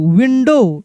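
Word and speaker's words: window: विंडो कैसे पढ़ेंगे विंडो यानी ओ डब्ल्यू में ओ को पढ़ा जा रहा है और डब्ल्यू की साउंड नहीं निकाला जा रहा है। यानी एक साथ अगर ओ डब्ल्यू आता है तो ओ को पढ़ा जाएगा। डब्ल्यू को नहीं पढ़ा जाएगा।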